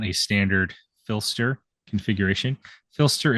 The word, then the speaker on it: Phlster: Filster is spelled Phlster.